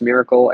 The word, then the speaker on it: Mirakkel: find me on Twitter at LCS Miracle except the miracle is spelled m-i-r-a-k-k-e-l um I love League